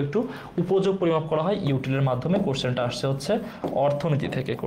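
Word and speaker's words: util: Litre, metre, ইউটিলি এসেছে, বাট ইউটিল হবে, এটা উচ্চারণ হবে ইউটিল নাকি গ্রাম।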